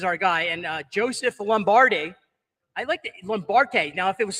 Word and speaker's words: Lombardi: hawk Financial is our guy and uh Joseph Lombardi now if it was spelled how would you say this Suzanne l-o-m-b-a-r-d-i how would you pronounce it die no hey all right Lombardi